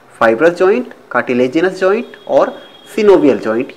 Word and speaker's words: synovial: कुछ लोग सिनोवियल joint को साइनोवियल जॉइंट भी पढ़ते हैं, वैसे जो करेक्ट प्रोनाउंसिएशन है दोस्तों वो सिनोवियल ही है, लेकिन अगर आप साइनोवियल पढ़ लेते हैं तो इसमें आपको कोई प्रॉब्लम नहीं होने वाली है, दोनों ही एक्सेप्टेबल हैं।